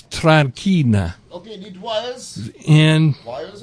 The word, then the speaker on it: Tranchina: Tranchina. Tranchina. It's spelled like China. China. But it's Tranchina.